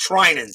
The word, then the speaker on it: Treinen: It's pronounced Treinen.